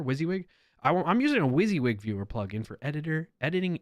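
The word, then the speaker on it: WYSIWYG: able to open files I'm using a wizzy wig by the way that's how you pronounce it do what does it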